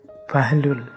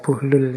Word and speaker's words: Buhlul: ini ada yang membacanya bahlul ada yang membacanya bullul saya milih Membaca buhlul saja ya jadi beliau ini